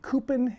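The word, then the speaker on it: cupim: brazil they call it i want to say coupen in in brazil apologize if i mispronounce the word but anyway coupen i believe it is i bought this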